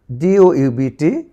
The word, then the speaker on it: doubt: এ পাশে দেখো টির পূর্বে বি, এটি সাইলেন্ট থাকবে। Date, date, date. DOUBT, doubt, doubt, doubt.